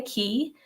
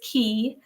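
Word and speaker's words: Cay: you pronounce that so it is key not K even though it looks like K it's key some is how they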